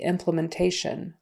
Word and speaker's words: implementation: implementation Implement implementing implementation for Implement and implementing these syllable stress is on the first syllable and then for implementation the syllable stress is on the next to the last syllable so implementation next phrase is high demand